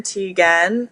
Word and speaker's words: Teagan: But it's T-E-A, like a cup of tea, and then G-A-N, Teagan, like kitten, but with the L.